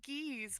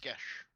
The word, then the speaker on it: geas: I said geese because it's spelled like C's. It's pronounced gesh.